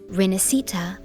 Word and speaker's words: Rinascita: which makes sense storywise but that's definitely not how you say that word word and the problems are actually two here first of all the s Italian sound does exist in English it's the sh sound so it should have been she but above all they stress the wrong syllable the